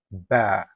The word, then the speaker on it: ب: It is always a light letter. In Tajweed, we describe it as Morocco, meaning it should be pronounced with a light and gentle sound. So whenever you say ba, keep your mouth relaxed. Don't force the sound or make it heavy.